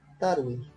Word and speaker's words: tarwi: Tarwi.